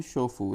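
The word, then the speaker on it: chauffeur: तो इसको मतलब प्राइवेट ड्राइवर जो किसी की गाड़ी चलाता है उसको बोलते हैं शोफू। इसका प्रोनाउंसिएशन ये है, सही प्रोनाउंसिएशन।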